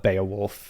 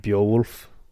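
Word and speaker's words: Beowulf: do you say it so in in Modern English we normally call it Baya wolf okay in anglosaxon English it would have been something like bolf okay okay um so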